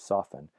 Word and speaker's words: soften: another word like like soften the verb soften you never pronounce the T and soften at least I hope